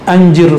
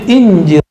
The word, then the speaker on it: Anjir: Mahmud kalau orang Arab bacanya Anjir Faghnawi, seperti mereka baca Anduni. Tapi kan anak alay sekarang kalau baca Anjir gimana ya? Makanya di teks yang lain ketemu Injir Faghnawi.